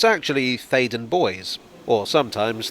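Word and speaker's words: Theydon Bois: the subject is here i assumed it was pronounced in the french manner faden boi but it's actually thaden boys or sometimes thaden boyce although there doesn't seem to be any consensus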